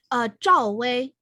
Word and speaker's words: Zhao Wei: Zhao Wei.